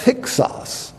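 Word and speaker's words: Hyksos: asiatics a warrior group known as hios or sometimes pronounced hixus but this group in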